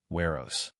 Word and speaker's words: Weros: In this chapter, it rhymes with Eros, Weros.